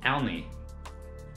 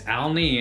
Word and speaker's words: Alney: It's easy to just spell it out. A-L-N-E, okay? Alney. Easy. Just remember, it's Alney and no foot.